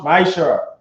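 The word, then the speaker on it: מעשר: It means tenth in Hebrew, and is pronounced ma'ishara.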